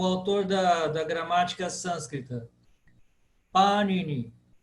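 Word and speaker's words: Pāṇini: Panini. Panini. Por quê? O A é que é longo.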